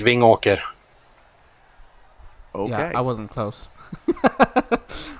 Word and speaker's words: Vingåker: So, Marcus, we were told in the chat to ask you how you pronounce the name of your hometown. It's Vingåker.